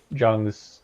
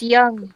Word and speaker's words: Jung: get through all of Jung's stupid lingo. It's Young. That's how you say it.